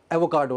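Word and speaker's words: avocado: सो the word was एवोकाडो, उसमें आर था, आर नहीं होता, एवोकाडो।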